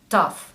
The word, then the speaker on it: tough: что все-таки GH бывает часто молчаливым буквосочетанием многие произносят его как Ван гоу Таф Что такое Таф второй звук меняется и мы